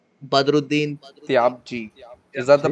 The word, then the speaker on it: Badruddin Tyabji: It's Badruddin Tyabji. Is that the pronunciation?